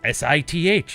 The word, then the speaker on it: Sith: It's always Sith. It's S-I-T-H.